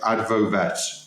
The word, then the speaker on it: Advovet: You're with your new company, and I've got to make sure I pronounce this right, Advovet.